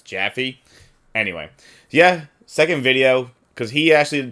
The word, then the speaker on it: Jaffe: wrong the entire time it's not jaffet's jaffy anyway yeah second video